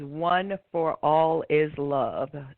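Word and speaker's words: One 4 All is Love: The title of the program is One for All is Love. So ONE, the number 4, ALLISLOVE.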